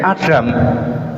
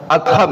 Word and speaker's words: Adham: itu bernama Syekh Ibrahim saya bacanya bin Adam tapi sama Ustaz an bin apa adham ya bin adham ya keliru nyebut nama keliru